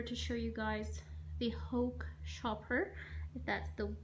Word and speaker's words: Hauck: video in order to show you guys the hoch shopper that's the right way to say it's